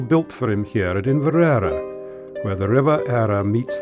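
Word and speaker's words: Inveraray: Although in modern pronunciation the place is often called Inverary, the correct pronunciation in the Gaelic is Inverara.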